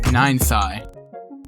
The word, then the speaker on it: Ninethy: Ninth eye. That's how you say it. You say it ninth eye.